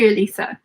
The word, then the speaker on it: Alisa: Alisa right she said it's like Lisa but with an a at the beginning you said it right at the end nice to meet you nice to meet you too Alisa thank you for letting